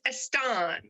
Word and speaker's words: Estan: name certainly can and the last name is estan estan i knew that had something fancy about